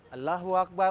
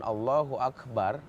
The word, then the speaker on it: Allahu Akbar: Allahu Akbar Allahu Akbar ketika dua kalimat itu Disambung itu harus diwasal namanya harus disambung dan cara bacanya juga beda Allahu Akbar Akbar itu yang benar jangan Allahu akbar Allahu akbar karena di situ ujungnya